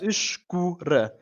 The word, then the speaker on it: escura: So we got the soft E with a sh sound, almost like you're shushing someone.